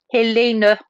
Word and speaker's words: Helene: do the fire questions my name is pronounced hey Lina Hey so for